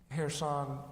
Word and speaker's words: Kherson: Well, the pronunciation, we never really got it straight there, depending on who you were talking to. There seems to be about 4 different ways. Right now, people from Kherson pronounce it that way. It's Kherson, but Ukrainians seem to pronounce it Kherson. It could also be pronounced Kherson, Kherson, and Kherson. The city dates back to the 1700s.